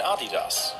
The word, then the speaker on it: Adidas: And he wondered whether Japanese shoes could do the same to Puma and Adidas, which were at the time extremely popular in America.